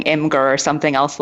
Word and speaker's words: Imgur: it right now the official word yes is pronounced imager but IMG you are so obviously can't really put too much blame on people if they're saying Inger or something else like that you know what